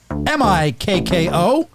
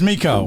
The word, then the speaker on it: Mikko: will get the names but to spell to spell it out it is m-i-k-k-o last name r-a-n-t-a-n-e-n are we gonna make monsal